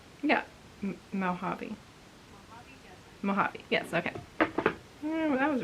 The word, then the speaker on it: Mojave: I want to say it's like Mojave or something like that. Pronounce, yeah, Mojave.